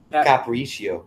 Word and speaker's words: capriccio: How would you pronounce that? Caprico? Yeah. Caprico? This sangria tastes so amazing. It's like Capriccio. Capriccio. Yeah. So is that Italian or French? It's Italian. It's like a frappuccino or cappuccino.